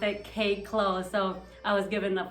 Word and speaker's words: Kay Klo: So they split my name in half, and the closest they could come to pronouncing Kay Clow, because it's like airy, throaty. Wow. They pronounced it Kay Clow.